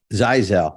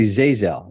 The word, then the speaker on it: Zeizel: tweaked the accent zaizell Zazzle Jeff I always say zazel zazel zaizel so this is the Italian and the zyzel is the Jewish is that how it